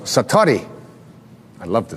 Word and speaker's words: satori: And he had what is called in Japanese it's called, excuse my Japanese, but it's called satori.